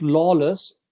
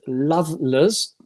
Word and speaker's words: Lawless: the um yeah i i would have pronounced it it lawless but eredar the owner of torby pronounces it loveless love okay i it's